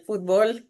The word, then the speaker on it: fútbol: amamos, que es el fútbol en México. Fútbol, le digo yo, le pongo el acento en la U.